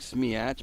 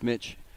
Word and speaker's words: Smiach: And I apologize if we get that wrong, but it looks like Smiach, but yeah, we're told it's pronounced Smich.